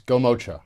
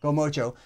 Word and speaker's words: Gomocha: Can you pronounce the name of this business? It's Gomocha. Gomocha.